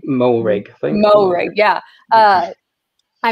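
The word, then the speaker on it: Moehrig: from tcu uh trayvon uh how do you pronounce his last name mohrig thank you yeah uh i mess it up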